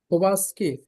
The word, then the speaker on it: Kowalski: Kowalski.